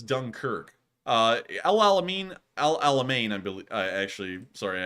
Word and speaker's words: El Alamein: likely be Russia's Dunkirk uh El Al Amin Al Alamein I believe I actually sorry I have to pronounce stick correctly Al Alamein is also somewhat